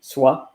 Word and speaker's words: soie: so s o i s o i e is pronounced the same SWA but uh the you